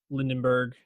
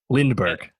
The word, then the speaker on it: Lindbergh: The plot is basically if Lindenberg won the presidency. Lindenberg. Lindenberg. You got it. Lindbergh.